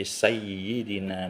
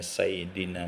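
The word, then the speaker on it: سَيِّدِنَا: shli ala sayyidina muhammad sayidina itu Say itu itu harus bertasdid jadi sayyidina muhammad enggak boleh kita membacanya sayidina Muhammad Oleh sebab itu kalau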